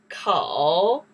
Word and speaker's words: 口: Kou.